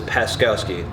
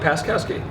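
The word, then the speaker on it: Paczkowski: And my last name is Paskowski. Okay, Paskowski. That's not too bad. No, when you read it though, it's a lot worse. There's a silent C that throws everyone off.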